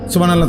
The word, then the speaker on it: সুবহানাল্লাহ: সুবহানাল্লাহ। সুবহানাল্লাহ। সুবহানাল্লাহ। কিচ্ছু হয় না। হা উচ্চারণ না হলে তো তাসবি হয় নাই।